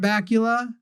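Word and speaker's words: Bakula: You know, I just because you didn't watch excellent 90s television and you don't know about Scott Bula, whose name rhymes with Dracula, that's how good his name is.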